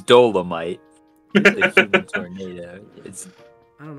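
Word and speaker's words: Dolemite: First of all, it's Dolomite. The human tornado. I don't know about all that. That's how it's pronounced.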